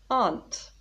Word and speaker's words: aunt: answer the question because he knows the answer aunt another noun what's an aunt look at the